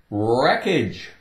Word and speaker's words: wreckage: you wrap a package wreckage wreckage take away the W no sound well the w is still going to be there but silent wreckage wreck okay there's